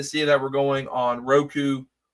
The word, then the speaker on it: Roku: NWA on Ruku. Now we're on Ruku. That's the first time I've heard someone pronounce Roku wrong.